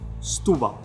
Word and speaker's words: Setúbal: So you rush the first part of the word into that U, and you also rush out of that U for the second part of the word. So you barely pronounce stu, and you barely pronounce bal, Setúbal. So you almost only hear the U.